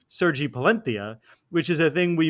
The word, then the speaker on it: Sergi Palencia: Palencia, who we all call Sergi Palencia, pronounced his name Sergi Palentia, which is a thing we made fun of an announcer for doing a few days ago.